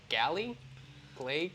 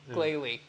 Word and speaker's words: Glalie: Galley? Glalie? Yeah. Glalie. Make fun of me trying to pronounce the names.